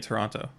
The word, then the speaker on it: Toronto: Well, they don't pronounce the T in Toronto.